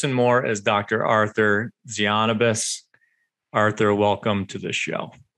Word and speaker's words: Tzianabos: about all this and more is dr arthur zionibus arthur welcome to the show thank you man great intro and you nailed the pronunciation of my last name perfectly all right